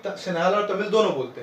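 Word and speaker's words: Sinhala: 74% श्रीलंकन जो हैं वो सिन्हाला लैंग्वेज बोलते हैं, सिन्हालीस, ठीक है। सिंगला प्रोनाउंसिएशन भी होता है, some people used to डू सिंगला, ठीक है।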